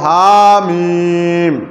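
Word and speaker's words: ح: হা, খ, জিম, আইন, গইন, লাম, কাফ, হা, মিম। তোমরা ভালো বলতে এখন বলো দেখি আরো জোরে। আর উচ্চারণ কণ্ঠনালীর হলকের মধ্যখান হইতে হা, হা, হা।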